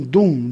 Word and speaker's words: Dum: Om Dum Durgaye Namaha. Sua sílaba semente é Dum, D-U-M.